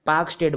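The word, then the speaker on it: Palk Strait: ए आई टी पार्क पार्क स्टेट पार्क पार्क स्टेट है और एल उसमें जो है साइलेंट है ठीक है एल साइलेंट है पार्क स्टेट बोलते हैं इसको ठीक है पार्क स्टेट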